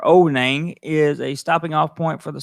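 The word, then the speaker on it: Ao Nang: Onang, pronounced O-W-Nang, or Onang, is a stopping off point for the Southern Islands by Krabi.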